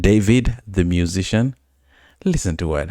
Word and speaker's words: d4vd: Now, if you don't know, this guy is a musician called David. D 4 V D. That's how it's spelled.